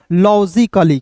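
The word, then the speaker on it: logically: अब देखिए क के तुरंत बाद ए है तो ए का उच्चारण नहीं करेंगे। ठीक है? डबल एल का उच्चारण ल के रूप में करेंगे और अंतिम में जब भी वाई दिखता है तो इसका उच्चारण इ के रूप में हो जाएगा दोस्तों लॉजिकली। क्या हो जाएगा दोस्त मेरे? लॉजिकली हो जाएगा।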